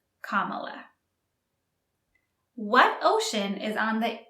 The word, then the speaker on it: Kamala: the Vice President of the United States now Kamala Harris Kamala Harris be careful with the pronunciation it's Kamala what ocean is on the east coast of